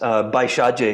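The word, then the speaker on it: Bhaiṣajya: It's pronounced Baishaje in the Sanskrit.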